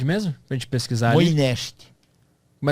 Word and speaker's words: Moinești: Moinești. Como é que se escreve?